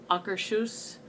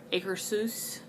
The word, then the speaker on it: Akershus: a debate as to how to pronounce it sometimes if some people says auger shoes or acre seuss italy it's in norway I'm from North Carolina so I say a car soos I'm for North Carolina